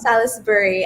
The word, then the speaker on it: Salisbury: Yes po, it's pronounced Salisbury and spelled Salisbury, parang Salisbury steak, ganon.